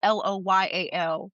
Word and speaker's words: Loile: So I'm on Instagram at Loyal, like, and it's pronounced Loyal, but it's spelled Loile.